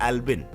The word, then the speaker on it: Brfxxccxxmnpccc: क्या वेल उसे पर उसके पेरेंट्स ने उसका प्रनंसीएशन बताया एल्बिन सो जब लोगों ने